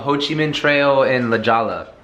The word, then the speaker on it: La Jolla: This place called Ho Chi Minh Trail in La Jolla. It's actually pronounced La Jolla.